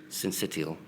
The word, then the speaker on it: syncytial: Can I just ask you, we've not actually looked at RSV, respiratory, how do I pronounce the second word? Syncytial.